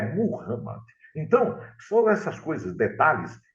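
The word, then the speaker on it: Muhammad: pronúncia é tudo né muita gente fala Mohamed Mohamed não é muhamma então foram essas coisas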